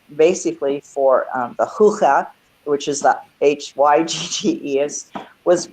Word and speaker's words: hygge: spelled at all like it doesn't sound like it's spelled, but it's Hygge and Lykke, and it's Scandinavian. It's Danish, and it's basically for the hygge, which is the Hygge, was written by a